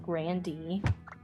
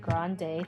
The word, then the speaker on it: Grande: Like her last name is actually pronounced Grandy, but she lets people pronounce it Grande to kind of, you know, go alongside with that.